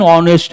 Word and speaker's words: honest: An honest man do remember.